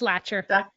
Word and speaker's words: Lacher: It's Lacher. Lacher. Thank you. Lacher. So we thank everyone for joining us today. We hope you found this information useful. And we look forward to having Dr. Lacher come back in the future.